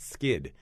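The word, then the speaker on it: Skydd: It's called Plant Skid, and skid is spelled S-K-Y-D-D.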